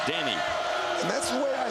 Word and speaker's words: Denny: A lot of people think we're just nicknaming him Denny, but he's from Puerto Rico, and that's how you say his name, Denny.